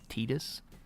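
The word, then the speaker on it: Tidus: Uh, now I do know there's controversy over his name because apparently it's supposed to be pronounced Tetus. Um, I've always called him Titus.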